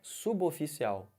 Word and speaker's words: suboficial: Olhem para essa palavra aqui. Como é que fala isso? Quem falou suboficial errou. Isso aqui é suboficial.